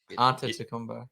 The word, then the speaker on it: Antetokounmpo: I've only just been able to start to pronounce Giannis What is now, it? now it's in my head. I can do it. Antetokounmpo.